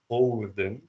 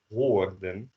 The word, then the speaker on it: hoorden: So the O, you don't pronounce this hoorden, you pronounce this hoorden because of the R.